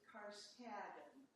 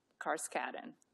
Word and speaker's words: Karskaden: It rhymes with Madden. We pronounce it Karskaden. Karskaden. The way it's spelled will confuse you. Just try to remember Madden.